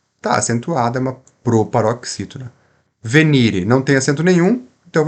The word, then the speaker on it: venire: então percebam aqui ó a palavra venire ela tem três sílabas tem acento tônico não né não tem acento agudo então eu vou falar venir vai ser uma oxítona não não existe oxítonas em latim Então qual que nós vamos falar é a penúltima venire venire assim você nunca vai errar pronúncia aqui no nosso